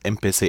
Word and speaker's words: empecé: And empiezo becomes empecé. I begin, I began. Empecé, you do not need the Z because the CE makes the sound.